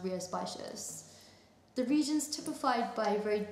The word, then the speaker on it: Rías Baixas: I had to Google how to pronounce that because you would never know from the spelling that it's pronounced Rías Baixas.